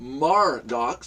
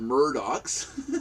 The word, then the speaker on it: Mardox: The cup is pronounced Mardox, not Murdox. Murdered Mardox. Mardox, M-A-R, not M-E-R.